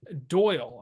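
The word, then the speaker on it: Dáil: eastern time and he said as president I hold the power to summon the doyle I believe that's how you pronounce it that's the lower house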